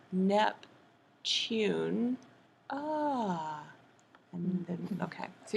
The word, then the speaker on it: Neptune: planet NEP nepton right so you said nepton as if there were no e right there remember what sneaky e does he reaches over here and makes him say his name ooh U sometimes he says u and sometimes o but let's just say it's U so NEP tune ah and then okay